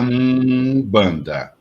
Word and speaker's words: Umbanda: Então, seria Umbanda. Então, é a pronúncia...